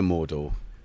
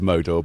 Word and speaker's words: Modor: So I didn't see the Mordor. Sorry, I called it the Mordor, like Lord of the Rings. I don't know. How do you pronounce it? Is it Modor? I don't know. It is Modor, but we're watching The